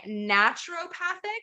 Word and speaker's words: naturopathic: before we dive into that you are a naturopathic yes physician is that how you pronounce it yes you nailed it that's right